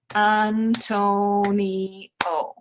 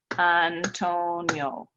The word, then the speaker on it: Antonio: When we say Antonio in English, it has 4 syllables. Antonio. When we say it in Spanish, it actually has 3. Antonio.